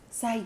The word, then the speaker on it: Syed: Shabana Syed. Gosh, am I saying your last name? Because this is embarrassing. Am I saying your last name right? Syed. Syed.